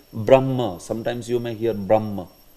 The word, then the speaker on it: Brahma: you can see Brahma this word is not Brahma ma the ma is not before H is before Brahma Brahma ah exactly instead of saying Brahma sometimes you may hear